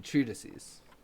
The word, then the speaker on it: treatises: no, no, You mean treatises? oh my god, is that how that's pronounced?